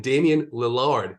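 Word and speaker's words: Damian Lillard: little savings before one of your spend-ups and Damien Lillard that is the correct pronunciation don't worry about it he's the Eiffel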